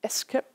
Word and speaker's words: SCAP: Es wird pronounced, also ausgesprochen Escap.